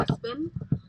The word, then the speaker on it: Espin: So sometimes my pronunciation of words is different, but it's definitely Espin.